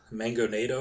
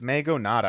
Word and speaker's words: Mangonada: It's Mango Nada, I think. I think that's how I pronounced it the first time because there's no O on there. Oh, yeah, it's Mangonada. Okay.